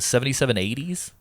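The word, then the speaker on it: 7780s: by a company called seven how do you pronounce it 77 80s so how you pronounce it I think so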